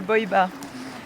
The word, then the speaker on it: Boibar: L'endroit qui est par là-bas, ça s'appelle Boibar. Du coup ça s'écrit B-O-I et plus loin bar.